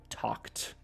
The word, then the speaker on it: talked: Hablé, talked. Hey, my friend. Hey, Pérez. How's it going? Talked. Esa ed en esa palabra, T-A-L-K-E-D, suena como como una T, que es un poquito raro.